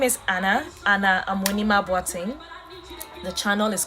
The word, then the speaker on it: Amoanimah: So if you see the Amoanimah, it's Amoanimah. I know lots of you find it so hard to pronounce, but it's Amoanimah.